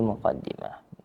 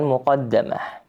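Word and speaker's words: مقدمة: w ba'du inna hadhi muqadimah. Lalu berikutnya di sini dikatakan mukadimah. Di sini bisa dibaca dengan dua cara ya. Muqadimah ada juga yang membaca dengan muqaddamah. Membacanya dengan kasrah lebih masyhur.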